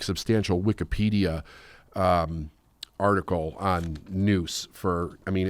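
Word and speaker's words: nous: or and I'm sorry and owe us it's pronounced noose like n oose so and and what is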